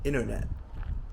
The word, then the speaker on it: internet: say water waiter party Americans sometimes drop the T as well especially when it comes after an N such as in words like internet and Center Americans would say something like internet Center you'll notice that the